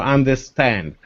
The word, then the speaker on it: understand: matters yeah for example understand no the stress is going to the last part of the this world